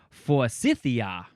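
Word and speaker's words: Forsythia: Oh, how do we say this word? We say for Cythia. It's for you. Cythia.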